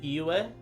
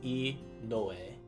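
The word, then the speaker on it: 井上: of thing gets tricky you think sometimes it would just be eua because you know we don't talk about the no usually but in this case here it's e noe and e being well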